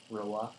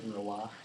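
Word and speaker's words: Wrow: uh lung fist who Rah oh W Patrick Rah w r o w r o y yeah I know but you pronounced it why it's French why W he constantly bed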